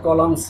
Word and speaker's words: column: Page, what are দ্য কলামস heads. এখানে কলাম বন্ধুরা দেখো এনের উচ্চারণ হবে না, কলাম হেডস, হেডলাইন বোঝানো হয়েছে, হেডলাইন শিরোনাম।